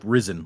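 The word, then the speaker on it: Rysn: I went and looked up how you're supposed to pronounce risen and the the consensus seems to be it's like like risen like he has risen sort of thing.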